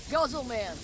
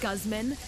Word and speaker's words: Guzman: got a little bit of loyalty from that golman what time is it it's pronounced Guzman and it's time for you to buy a